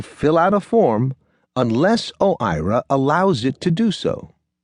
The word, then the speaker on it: OIRA: OIRA, pronounced OIRA, is Washington speak for a little office with a big impact.